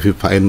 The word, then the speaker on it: Fifine: Enaknya Vivine deh ya, bacanya.